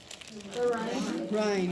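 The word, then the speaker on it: Rinne: Actually, some people say Renee as Renee, well I've too. heard Renee. I don't think the person's alive to really find out what they prefer themselves called anymore. So Ryan is like the most common that I hear.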